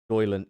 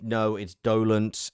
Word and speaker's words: dolent: Doyland. It's Dolent. It's just because we were talking about the correct pronunciation of Dolent, and now we've talked about the word Doylent.